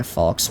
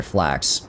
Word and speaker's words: flax: I just sworn I had, like, a falx plant, maybe? Or flax. That's how you say it. Falx is the weapon. Flax is the plant.